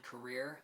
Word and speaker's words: Korir: The overall winner of the race, John Career, I believe is how his last name is pronounced.